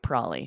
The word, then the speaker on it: probably: I skip the B entirely, right? That's true. That does happen a lot, too. Still two syllables, but we eliminate the B as well. And it almost looks like it would be spelled P R O L L Y.